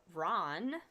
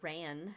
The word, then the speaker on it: Ran: And then we have epsilon Aerodani or Ron or Ran, however you want to pronounce that. A ran, right?